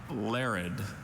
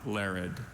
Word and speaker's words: larid: That second syllable, the infamous schwa.